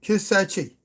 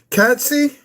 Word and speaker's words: Kisatchie: It's It's Kisatchie. Kisatchie. That's how you pronounce it. I hear Kisatchie, Katsy, Kisatchie.